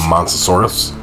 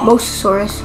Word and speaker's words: Mosasaurus: Monsosaurus? It's Mosasaurus.